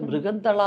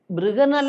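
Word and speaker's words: ബൃഹന്നള: ആദ്യത്തെ പടത്തിൽ അതിന്റെ ഡാൻസ് മാസ്റ്റർ ആ ഡാൻസ് മാസ്റ്ററെ മൃഗന്തള എന്ന് വിളിക്കാൻ പറഞ്ഞു മൃഗന്തള അപ്പോ മൃഗന്തള എന്ന് അവരുടെ ഉച്ചാരണം മൃഗനല്ല അതായത് അർജുനൻ ഉർവശി ശാപം കൊണ്ട് അർജുനൻ ഒരു പെണ്ണായി മാറിയ ഒരു ഒരു സംഗതിയുണ്ട് കഥയിൽ ആ പേരാണ് അപ്പൊ അത് ബൃഗനല എന്ന് വിളിക്കാൻ പറഞ്ഞു അപ്പോ ഞാൻ പറഞ്ഞു നമസ്തേ മാസ്റ്റർ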